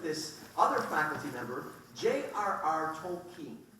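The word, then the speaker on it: Tolkien: faculty member JRR toling now I want to say that name wrong about every other time because I grew up in sou Chicago no one know who tolken was and I called him tolken tolken tolken and then I met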